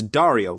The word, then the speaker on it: Dario: It's Dario, like Mario, only with a D.